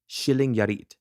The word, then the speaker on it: Skillingaryd: So the way it's written looks like Skillingard, but I wrote down the official pronunciation I looked up as Skillingaryd, Sweden.